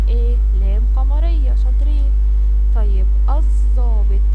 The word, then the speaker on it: الضابط: لام قمريه شاطرين طيب الضابط الضابط ها نطقنا ولا ما نطقنا ما نطقنا يبقى دي ل ايه لام شمسيه طيب عايزين قبل